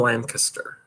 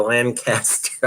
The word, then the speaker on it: Lancaster: I always say Lancaster, and everybody tells me you pronounce it wrong. I guess around here, this whole Pennsylvania Dutch thing, they pronounce it Lancaster. Lancaster. Although my English friends all say no, it's Lancaster.